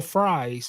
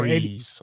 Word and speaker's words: Fries: The Vikings, they got offensive guard Will Fries, 5 year Freeze. I think it's pronounced freeze.